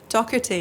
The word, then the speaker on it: Doherty: Doherty, yeah, it sounds like a K.